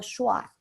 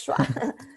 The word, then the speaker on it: schwa: En pronunciación inglesa se llama el sonido schwa, ¿ok? Es o fu. Shua. El Schwa. sonido de shua. Es schwa.